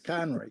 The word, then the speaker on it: Conroy: It's Conroy. They never. It's almost invariably I'm correcting the last part of it.